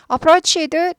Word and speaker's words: approached: approached t 발음이 나요.